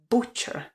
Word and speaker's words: butcher: byste to vyslovili a tohle slovíčko je zákeřné v tom že naprostá většina slovíček která začínají na b u se v angličtině vyslovuje jako ba například slovíčko jako a buckle Bubble nebo Buck a podobně ale v případě řezníka to a nevyslovujeme ale vyslovujeme u takže pozor správná výslovnost není Butcher ale Butcher Butcher takže řezník Butcher například